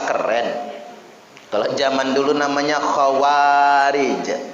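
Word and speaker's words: خوارج: Kalau zaman dulu namanya khawarij, kha waw ada alif, jadi dua harokat bacanya, ro dan jim.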